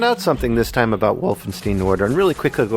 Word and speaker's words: Wolfenstein: something this time about Wolfenstein order and really quickly go over the synopsis after Wolstein what's that Wolfenstein Wolfenstein you don't like me saying Steen it's pronounced Stein I think in this